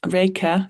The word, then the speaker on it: Raika: you got uh raika is that am I saying it right yeah um saying the takeaway